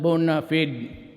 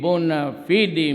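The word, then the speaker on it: bona fide: Bona media Bon media sometimes they pronounce it bonafed but whatever the thing is the bua fidi media has always been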